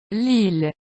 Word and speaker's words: Lille: common ones that are not pronounced with the Y sound, but the L sound. Ville. Tranquille. 1 million. 1 milliard. 1000. Lille.